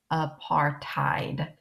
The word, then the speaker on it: apartheid: called apartheid okay and that's how you say it apartheid might you tied a knot and apartheid is an Africans word Afrikaans word meaning apartness so what I want